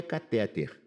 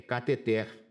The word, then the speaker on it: cateter: Aqui não é catéter, é cateter. É uma palavra oxítona, né? Os médicos adoram pronunciar equivocadamente. É cateter, ureter, maceter, mister, cister. É tudo oxítona.